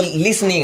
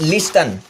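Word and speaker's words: listen: अपने अंदर की जो आवाजें हैं मेडिटेशन या ध्यान करते समय सुनना, वो लिसनिंग है। तो समझ गए होंगे, लिसन नॉट लिस्टन।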